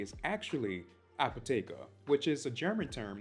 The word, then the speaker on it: Apotheke: to me from Apothecary quick disclaimer the correct pronunciation of Apothecary is actually apoteka which is a German term that translates to